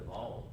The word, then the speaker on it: Baal: I know his father already been a part of building altars to Baal or Baal, depending on which way you want to pronounce it.